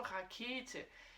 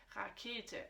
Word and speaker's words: Rakete: Et d'ailleurs, tu as bien remarqué la prononciation Rakete. Rakete.